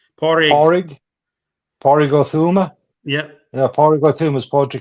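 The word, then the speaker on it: Pádraig Ó Tuama: I'm not going to try to pronounce that first name. Porrig. Porrig Othuma?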